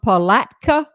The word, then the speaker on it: Palatka: gave her town shirley douglas lipsy l-i-p-s-e-y from palatka florida tony that's the correct way to say